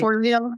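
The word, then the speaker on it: Forleo: like Marie For I always say her last name wrong. Um but yeah Marie Forlio.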